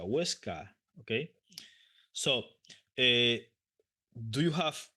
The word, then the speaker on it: Huesca: Teruel, Zaragoza, Huesca, no Huesca, Huesca.